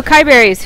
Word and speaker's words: KiyeBerries: so uh starby and is it KY berries is that how I pronounce it that is so KY berries who are you what